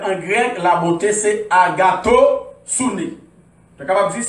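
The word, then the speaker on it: ἀγαθωσύνη: Premier mot, ce qui est lié, il y a agoustoumé. Non, c'est agatosouné.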